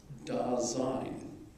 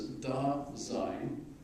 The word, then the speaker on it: Dasein: And it's a combination of sein, which means being, and da, which is German for there, right? Remember, in Russian it's yes. In German it's ja. So yes is ja in German. But da is da drüber, over there, right? So Heidegger gives us Dasein, one word, which is essentially being there, essentially.